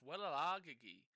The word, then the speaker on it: Wellalage: Oh, it's Wellalagi. Wellalagi is how they pronounce it. Sorry, Wellalagi is what they're saying in the commentary.